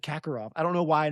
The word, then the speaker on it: Karkaroff: It's Kakarov. I will try my my whole life I've just said Kakarov.